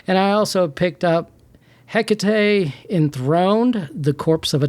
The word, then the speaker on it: Hecate: I know it's 3 syllables now, and I thought it was 2 this entire time.